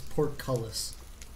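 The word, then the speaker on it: portcullis: Pronounced. It's Porcullis.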